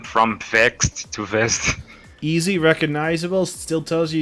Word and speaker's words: Vezzed: A lot of people are wondering, who are asking us, isn't that Vex Gaming? Are you guys mispronouncing it? No, it is Vezzed Gaming right now, correct?